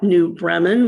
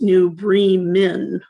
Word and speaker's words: New Bremen: Bremen, or is it New Bremen, like the town in Germany? It's pronounced New Bremen in my county, even though we spell it like Bremen, the town in Germany.